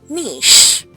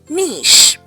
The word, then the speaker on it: niche: The word is niche. Not niche. One more time. Niche. So this word was borrowed from French. So you say niche.